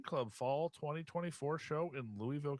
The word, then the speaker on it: Louisville: fall 2024 show in Louisville Kentucky or or Louisville as they say down there yeah say it right